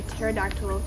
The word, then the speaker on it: pterodactyl: you not hear a pterodactyl go to the bathroom why because the p is silent wow okay that's great